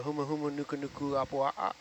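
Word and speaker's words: humuhumunukunukuāpuaʻa: Oh yeah, the huma huma nuku nuku apua'a. Yes. Oh, There you pretty go. good pronunciation, Adam.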